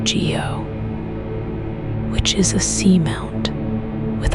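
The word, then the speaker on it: guyot: There is also a feature called a guo pronounced geo which is a seamount with a flat top.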